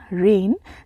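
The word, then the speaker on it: reign: next word है रेन रेन यहां पे जी जो है साइलेंट होगा से हम पढ़ते हैं आरई आई जी एन रेन जिसका अर्थ होता है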